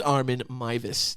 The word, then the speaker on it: Armin Meiwes: I was mispronouncing his name the entire time incorrectly. Uh it is Armen Mus. That's his name. He's from Germany.